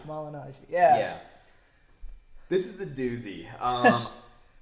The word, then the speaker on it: Malignaggi: Malignaggi. Malignaggi. Malignaggi.